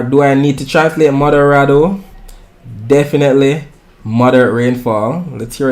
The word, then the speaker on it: moderado: Or do I need to translate moderado? Definitely moderate rainfall. Let's hear it pronounced.